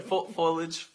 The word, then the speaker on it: foliage: Foliage. Foliage. Okay. Not foliage. Sounds like aluminum foil.